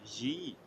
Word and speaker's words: gi: Sometimes it's pronounced J, as in gi, or giver.